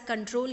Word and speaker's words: Ctrl: The abbreviation for that is CTRL. So you will pronounce it as control key, not as CTRL.